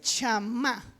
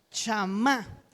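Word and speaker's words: שמע: Simón en hebreo se dice shamá. ¿Cómo se dice en hebreo? Chamá.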